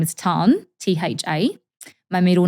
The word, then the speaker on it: Thanh: So my first name is Tan, Tha.